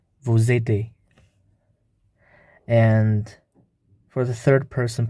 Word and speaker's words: vous aidez: And for the second person, we have vous, and the corresponding is ad, and this always pronounced as vous aidez.